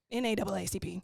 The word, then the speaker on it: NAACP: Um, she was a member of the NAAC NACP NAACP. There it is. That's how you say it.